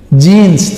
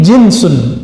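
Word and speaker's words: جنس: Jans itu bacanya ya. Kalau ini jinsun ja jim nun sin. Jenis bahasa Indonesia jenus.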